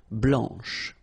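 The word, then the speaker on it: blanche: and then blanch okay remember when you combine this C you get the sound sh blanch okay so BL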